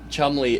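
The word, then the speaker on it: Cholmondeley: Well, so so his real name is Chumley, but we also know Chumley from Bonar. This is how it's spelled. And that Chumley is how he pronounces it.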